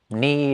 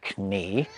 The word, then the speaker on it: knee: Around the 17th century, K's and G's start to fall silent in words like night and gnome, having previously been pronounced. Linguists think this is probably just because knee is easier to say than knee.